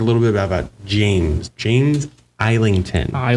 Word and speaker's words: Islington: As I said, we're going to talk a little bit about James James Eington. Do not pronounce that S.